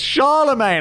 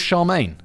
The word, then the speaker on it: Charlemagne: I got a disclaimer everyone's like is Charlemagne I'm like it's not I mean they're both acceptable pronunciations and I'm I'm going with Charmaine because that's the one I prefer okay or Charlemagne not bad not bad have you